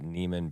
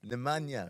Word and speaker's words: Nemanja: The problem, though, is that Neiman Bielitsa had that dog in him. Oh, come on. Neiman? You made him Neiman? How do you pronounce it? Nemanja.